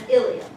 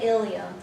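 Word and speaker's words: ileum: and stuttering Jun and ilum sounds the same as the hip bones but it has an e in it on here the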